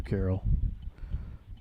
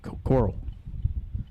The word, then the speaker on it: Coral: All right, thank you, Carol. Coral. See, I get the last name right, and then I mess up the first name, Coral.